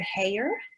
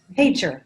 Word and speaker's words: Hager: So tonight we are very happily recognizing, am I gonna say it right, Hayer? Almost. Hager. Hager, okay, that would have been just too easy.